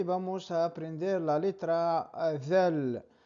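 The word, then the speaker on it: ذال: Como he dicho, tenemos DAAL, como la TH inglesa, DAAL, the woman, the girl, the, ¿vale?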